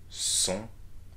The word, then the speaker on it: sont: Ils, elles, sont. It's a nasal vowel that you need to do. Sont. Sont. Ils sont. Elles sont. And please note that we are not pronouncing the T here, okay?